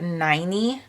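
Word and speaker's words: Ninie: I let me see her name is n-i-n-i-e but I read her biography and it's pronounced 90. rhymes with tiny and it was see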